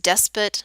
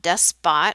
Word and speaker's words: despot: and it is pronounced despot not death spot like it might look like it would be pronounced here's a citizen here's